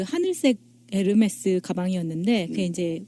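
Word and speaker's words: Hermès: 뭐라고 해야 되죠 4 아 그냥 꿈을 이씨라면 에르메스 입니다 이렇게 쉽 발음이 안 된답니다 그럼 이에요 h 가 발음이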